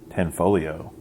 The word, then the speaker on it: Tanfoglio: Tanfoglio. The G is silent.